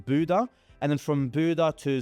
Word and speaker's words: Bodø: One-way to Reykjavik in Iceland, then one-way from um Reykjavik to Oslo, from Oslo to Bodø or I think it's pronounced Budø, and then from Budø to Svolvær, which is in the Lofoten Islands.